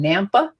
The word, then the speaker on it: Nampa: somebody right now who's in nampa is that the right way to pronounce that it is i kept thinking the lady was in napa as in california napa valley right it's a it's